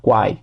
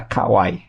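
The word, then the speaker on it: kawaii: quanto o talback fala Quai Quai a para mim é Quai só depois com aprender que era Kawai e são poucas vozes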